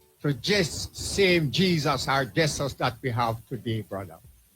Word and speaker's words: Jesus: Jessus beg you pardon. Let her pronounce our English narrative as it is Jess. But we all say Jesus but is Jessus.